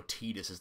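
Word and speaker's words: Tidus: His whole thing, Final Fantasy X, has water motifs off the wazoo, so why is it not pronounced like tide?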